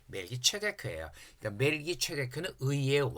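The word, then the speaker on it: מלכי־צדק: 우리는 이제 멜기세덱으로 하는데 왜 세덱으로 하냐 그러면 이 히브리어를 번역한 그리스 헬라어는 츠 발음이 없어요. 파찰음이 없어요. 라틴어도. 그래서 이거를 세다카라 그랬던 거예요. 그래서 멜기세덱으로 하죠. 멜기체데크예요.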